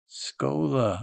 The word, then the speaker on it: Schoeller: Schoeller Schoeller Schoeller. Oh my gosh. The S C H is a K sound.